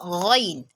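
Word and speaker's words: غ: It is a consonant letter. It is pronounced from the throat. That means the point of articulation of ghain is al-halq. It is pronounced as ghain, ghain, ghain, ghain, ghain.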